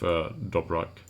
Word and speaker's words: Dobrak: So that leaves us with Bergman and with Dobrak. And yes, it's pronounced with a K.